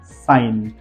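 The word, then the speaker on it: sign: एन जी को हमने pronunciation नहीं किया है साइन सेकंड शब्द है रिजाइन रिजाइन लिख सकते हो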